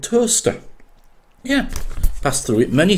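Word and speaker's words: Towcester: there's a place called toaster yeah pass through it many times not spelled as the same but it's certainly pronounced the same and more than more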